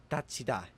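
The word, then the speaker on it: 닫히다: The digut and hiet should make a tiet, and as it makes a tiet, the tiet turns into a chiet, so this is pronounced datida.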